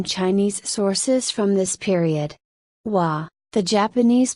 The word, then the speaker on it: Wa: Japan are from Chinese sources from this period wah the Japanese pronunciation of an early Chinese name for Japan